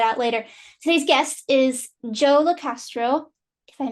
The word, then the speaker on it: Joe LoCastro: My name is Joe LoCastro, and I go by the name A Millennial's Third Eye.